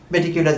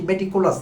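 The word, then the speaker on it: meticulous: প্রসঙ্গ পান্না আবার তুলেছেন মেটিকউলাস ডিজাইন এটি পান্নার খুব প্রিয় শব্দ মেটিকুলাস ডিজাইন যদি উচ্চারণটি ভুল করেন মেটিকুলাস বলেন পান্না এটি মেটিকুলাস না মেটিকিউলাস মেটিউলাস ডিজাইনের কথা পান্না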